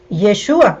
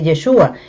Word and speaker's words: Yeshua: El nombre original en hebreo es Yeshua. Ustedes me escuchan que yo digo bastante Yeshua. Eh, a mí me gusta pronunciarlo de esa manera, ¿verdad?